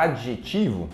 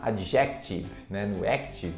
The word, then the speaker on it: adjetivo: olha que maravilha a próxima palavra a palavra adjetivo que muita gente fala adjectivo está errado esta palavra daqui vou colocar aqui